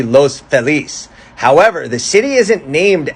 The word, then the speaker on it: Los Feliz: DJ Waldy, said that the common Anglo pronunciation, Los Feliz, stems from the Midwestern takeover of LA in the late 19th century, which confounded residents as to whether to use a Spanish or English pronunciation, so it just stuck somewhere in the middle. Now, many native Spanish speakers point to Feliz Navidad, and they say it should be Los Feliz.